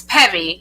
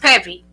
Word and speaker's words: Peavy: peave you can go there or it's Peevy it's pronounced pevy but a lot of people say PE but it's Peevy so it's pevy but um you can